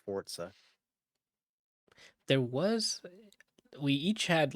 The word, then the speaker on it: Forza: People still play those soccer games, but clearly not more than fucking uh the Forza, as it's pronounced, Forza.